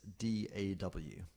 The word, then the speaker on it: DAW: But DAW is D-A-W. So it's kind of like SAW, which is spelled S-A-W, but it is DAW, so it's D-A-W.